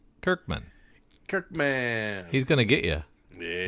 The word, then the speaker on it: Kirkman: He's gonna sue you if you keep mispronouncing his last name. Del Felici? No, Kirkman. Kirkham. Kirkman.